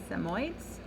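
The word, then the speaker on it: Samoyed: picture f-a-h among the samoids chapter one the little girl's dress that was a hard word it is pronounced samoid going for a ride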